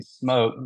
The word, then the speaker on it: Smoak: oh yeah yeah so a lot of people they they they call us the Smoke House smoke like Smo K town but it's always misspelled and we always get asked you know why it's spelled that way but it's just it's with the oak we use Oak and pecans so and it wasn't